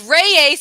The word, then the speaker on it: Reyes: their um romantic relationship it's reyes i am saying raise i'm using two syllables folks y'all are gonna